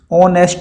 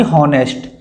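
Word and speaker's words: honest: Word है ऑनेस्ट, तो ऑनेस्ट में एच आपका साइलेंट है, तो इसका जो प्रोनंसिएशन होता है वो होता है ओ से, ऑनेस्ट बोलेंगे, ऑनेस्ट, ठीक है, ना कि हॉनेस्ट।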